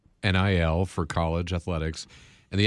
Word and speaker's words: NIL: So I I looked it up how it pronounced NI L for college athletics.